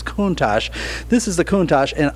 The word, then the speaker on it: Countach: And if you read the word, it looks like Countach. And I had to read in Auto Week magazine, they explained how to pronounce it, that it's Countach.